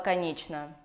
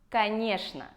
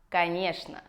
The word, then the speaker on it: конечно: Кто сказал «конечно»? Это неправильный ответ. Правильный ответ – «конечно». Во-первых, «ч» превращается в «ш», а «о» превращается в «а».